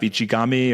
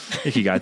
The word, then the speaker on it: Ikigai: You have to really find a niche, that Japanese idea of ichigami, or I'm mispronouncing Ikigai. It for sure. Ikigai, thank you.